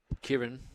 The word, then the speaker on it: Kyron: the back and uh uh How do you pronounce Kyron? Kieran.